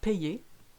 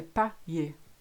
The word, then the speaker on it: payer: really, if you look at payer, we should say payer, but we don't. We say payer. So it's almost like there's an I after A and the Y again, so payer.